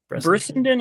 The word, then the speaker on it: Brissenden: Bressenden or Bressenden, Brissenden is the way the audiobook pronounces it, so I'm Brissenden.